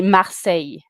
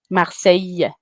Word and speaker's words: Marseille: How do you pronounce it in France? It's actually Marseilles. Marles. Marseilles.